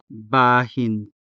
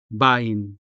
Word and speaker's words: bahin: The stress falls on the first syllable, ba, leaving the second syllable, hin, unstressed, where the consonant ha is positioned. And so this ha may sound weak in casual speech.